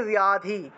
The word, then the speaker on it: ব্যাধি: তাহলে পূর্বম তম, পূর্বম ত্বাম, ত্বাম, চণ্ডিকে, চণ্ডিকে ব্যাধি, ব্যাধি, যে দেখুন পয়ের সাথে জফলা, সেজন্য ব্যাহ উচ্চারণ হয়েছে, ব্যাধি নাশিনী, ব্যাধি নাশিনী,